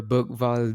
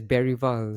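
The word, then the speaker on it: Bergvall: I think this season we will see the Bergval that was or Barry Val the man the the commentators always pronounce it as Barry Val. So I think it's Barry Val.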